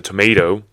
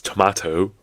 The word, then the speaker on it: tomato: different sounds for example you say tomato a tomato in American English yes and it's tomato right in British English but you don't say